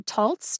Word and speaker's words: Taltz: single dot above it examples of that kind of an o are caught saw and all caught saw and all does that type of o make sense for the word waltz yes could that be right for taltz too absolutely this is way too